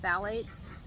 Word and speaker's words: phthalates: chemicals so um phthalates that starts with a ph so it's an odd word but it's pronounced phthalates unfortunately they have been